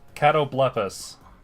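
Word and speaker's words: Catoblepas: Catoblephus. That's I think that's how it's pronounced. It is.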